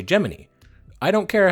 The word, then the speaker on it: Gemini: made a statement declaring the official pron Association to be geminy so since it's their program we'll be playing by their rules they all said giny so we're going to say geminy I don't care how